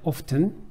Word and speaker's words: often: often. 이렇게 읽는 경우도 있고요. often이라고 t 소리를 안 내는 경우도 있습니다.